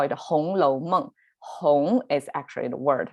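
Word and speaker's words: 红楼梦: the red chamber in chinese we call it hong lo mung hong is actually the word red and lo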